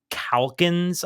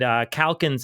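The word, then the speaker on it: Calkins: a guy named dick calans I believe and I was not I was not familiar with that work and I looked it up and calans is spelled c a l k i ns but if you look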